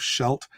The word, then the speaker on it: Scheldt: okay sure and uh I'm using a very anglicized pronunciation of shult the first time I heard somebody in Dutch say the word I didn't even know what they were talking about it comes across something as shelda or yeah again I apologize